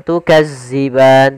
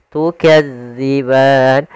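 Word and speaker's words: تُكَذِّبَانِ: thobii panjangnya dua harakat tukadziban hati-hati dalam melafalkan huruf dalal karena di sini bukan huruf z jangan tukazziban tapi dia tukazziban Kemudian pada lafal ban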